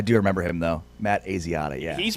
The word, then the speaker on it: Asiata: Asiata, thank you. That's it. All right. I'm sure that's it. know how I pulled that out. I do remember him though. Matt Asiata, yeah.